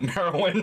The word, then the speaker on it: Merowyn: we had an episode where Merowyn, which I keep wanting to say sounds like Marilyn, but with a speech impediment. Merowyn. I thought you were trying to say Morrowind, like Elder Scrolls. No, Marilyn rhymes with heroin.